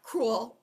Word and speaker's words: cruel: they are split up same with the word cruel two syllables in this word two vowels two separate sounds it's not cruel as in one we couldn't say it as one syllable okay same with this